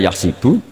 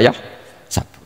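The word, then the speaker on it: يحسب: zaidun k wayahsabu zaidun karena dalam qiraah Safah ada yang baca yahsibu qiraah kita baca yah sabu tapi guru-guru kita kalau ajar fikih itu bacanya yahsibu tapi kalau baca Quran yahsabu ya kan Quran kita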